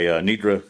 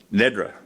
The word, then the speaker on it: Nedra: with the invocation by Nidra Kendrick with Futuro RGV. Come on up here. It's Nedra, excuse me. rhymes with dessert. That's right. Never doesn't rhyme with anything.